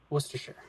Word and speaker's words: Worcestershire: it's long befall oh one more thing it's pronounced worcestershire nice got him look i'm gonna be